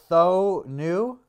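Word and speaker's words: Thoene: everything like that and uh how do you pronounce it though th new th new yeah he's got lots the tools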